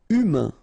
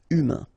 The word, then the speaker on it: humain: Humain, remember, H is not pronounced. A-I-N, un. Humain.